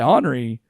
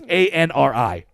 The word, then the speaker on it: Anri: but it actually says, "Hey, get summoned by Henri," not Henri, or what? I don't. It's Anri.